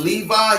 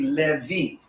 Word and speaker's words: Levi: that when you say instead of saying levi you would say no it's not levi it would be levy you don't say i